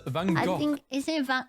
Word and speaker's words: Van Gogh: It's a Dutch name, and Dutch pronounce it as Van Gogh. I think isn't it Van Gogh?